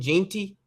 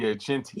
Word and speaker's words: Jeanty: Ashton Jeanty, I think that's how you pronounce his last name. Yeah, Jeanty. He might be the best player in football.